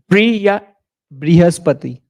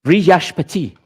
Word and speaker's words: Brihaspati: And how do you pronounce it, Hamel? Brihaspati. Brihashpati.